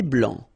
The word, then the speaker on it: blanc: Un thé vert, un thé blanc, final C not pronounced.